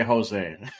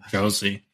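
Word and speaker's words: José: article is Jose Theodore I always want to say Jose and I know that's not right it's Jose Josie all right yeah hey we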